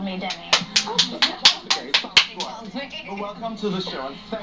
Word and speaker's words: Demi: And you're saying it wrong! Oh, Demi! It's Demi.